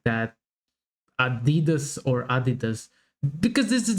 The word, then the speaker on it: Adidas: were referring to, because they usually pronounce it Adidas, and in Germany we say Adidas.